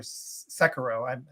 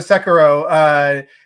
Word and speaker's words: Sekiro: And now something like that, where you probably were like, well, I don't see Activision Blizzard, going for another Sekiro. Been saying it wrong, but another Sekiro.